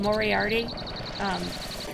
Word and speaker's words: Mohriahti: Yeah, my character is named Moriarty. She's a Mikote, which for those unaware are the cat people. I spell it Mohriahti. Because I guess they use H's in their names, they're silent.